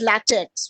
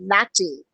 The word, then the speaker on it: LaTeX: a latte template do it's spelt as latex which is rubber but no it's pronounced as latte it's actually a document